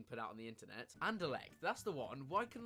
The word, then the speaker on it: Anderlecht: that's ever been put out on the internet anderlecht that's the one why can i say that